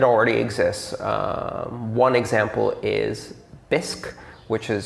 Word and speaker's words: Bisq: in fact it already exists one example is bisc which is spelled b-i-s-q um and uh bisque is a